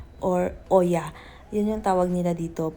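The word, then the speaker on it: Oia: Nandito na kami sa lugar ng Iya or Oya. 'Yun yung tawag nila dito. Pero ang pronunciation daw na correct isa.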